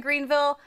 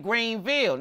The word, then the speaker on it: Greenville: I realized I was saying it wrong. I'm saying Greenville.